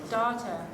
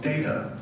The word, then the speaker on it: Data: It is pronounced data. Oh? You called me data. Well, what's the difference? One is my name. The other is not.